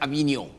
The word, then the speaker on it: Avignon: This word is pronounced Avignon.